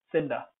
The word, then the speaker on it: cinder: is the same thing cinder even though it's an initial position it's uh pronounced sir that's why i've included